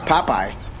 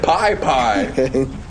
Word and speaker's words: Popeye: popeye pop pop i it's popeye you said pie pie that's just nasty whoa